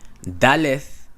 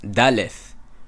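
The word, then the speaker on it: דלת: Daleth has a fricative. Daleth, and not dalet.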